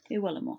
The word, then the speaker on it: Iwelumo: Is it Iwelumo? Is that how you pronounce it? Iwelumo, thank you.